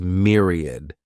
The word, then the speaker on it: myriad: the next noun is Myriad this word has three syllables and the stress is on that first syllable Mir sounds like Mir Myriad a myriad is